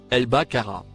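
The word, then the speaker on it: البقر: de décoder ses versets le mot en surbrillance vert se prononce elle baccara ce qui a été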